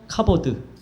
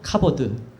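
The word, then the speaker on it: כבוד: 한번 저를 따라서 발음해 보죠. 카보드. 한 번 더 카보드.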